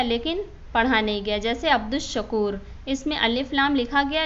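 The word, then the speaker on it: عبد الشكور: जैसे अब्दुश्शकूर, इसमें अलिफ लाम लिखा गया लेकिन पढ़ा नहीं गया।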